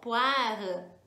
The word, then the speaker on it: poire: pedir uma tarte au poire. Tarte au poire. Lembra que eu falei que o com i dá som de ua no português. Então, poire escreve com oi, né?